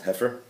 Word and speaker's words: heifer: Similarly, in Parah Aduma, in the red heifer, as Bunim rightly pointed out yesterday, even though it's spelled H-E-I, but it's pronounced heifer.